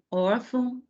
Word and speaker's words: órfão: Órgão, órfão, órgãos e órfãos. Então, posição da sílaba tônica, penúltima sílaba, em todas.